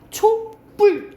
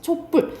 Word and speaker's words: 촛불: 된 소리가 나는 경우 우리가 초 플러스 불 해보자 근데 발음이 어떻게 나 초뿔 이렇게 돼 그죠 촛불 어 된 소리가 나니까 그걸 나타내기 위해서 뭐가